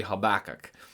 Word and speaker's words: Habakkuk: Probably the closest way to the Hebrew and English would be Habakkuk.